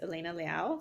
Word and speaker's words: Elena Liao: In thank you hello my guest today is Elena Liao founder of Tay company in New York City did I pronounce that right Elena yes you did thank